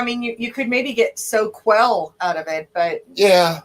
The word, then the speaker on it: Soquel: no-brainer but like where our shop was in soquel s-o-q-u-e-l that's how it's pronounced here's how it's spelled people call it sokol if they're not around hmm yeah it's like